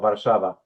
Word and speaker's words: Warszawa: or Warszawa Thank you. For those three days when I learn how to pronounce it in Polish.